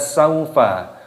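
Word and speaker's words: سوف: Wawu sukun dibaca saufa.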